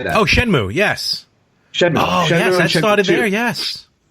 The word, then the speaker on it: Shenmue: a game we did not talk about that was phenomenal on the Dreamcast, and most remember was is it Shenmue? How do you say that? Oh, Shenmue, yes.